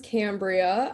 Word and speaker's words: Cambria: pronounce that right, Yeah. Cambria?